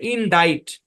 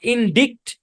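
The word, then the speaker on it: indict: যেমন খেয়াল করেন, এই শব্দের মধ্যে দুইটা কাজ, একটা হচ্ছে সি সাইলেন্ট, এখানে আবার আই লং সাউন্ড দেয়। এই শব্দের উচ্চারণ হচ্ছে ইন ডাইট। কি উচ্চারণ? ইন ডাইট, নট ইন ডিক্ট, নট ইন ডিট, ইন ডাইট।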